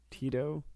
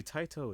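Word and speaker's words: Taito: I think it's TI it's not tight it's it's definitely not tight so I read it's not t so I heard it was like pronounced almost like t a i t o Tito tto no [ __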